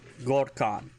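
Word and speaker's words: gor'kaan: If you want to talk about Warhammer, not the game, Gorkan.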